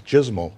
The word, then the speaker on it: JSML: We decided to give this language a name, and the first name we gave it was JSML, rhymes with dismal.